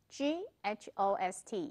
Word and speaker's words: ghost: 怎么念呢？GHOST 要怎么念？G 要念出来，H 不要念，那就会变成 ghost，大家都很害怕的，鬼魂、鬼。